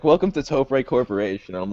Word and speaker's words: Topre: Let's talk about the way you pronounce Topa. It's Topre. Okay. So So it is an abbreviation of the words Tokyo Press.